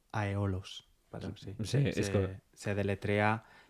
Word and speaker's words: Aeolos: Eh bien, je pense que je l'ai prononcé comme Aeolos. Je dis Aeolos.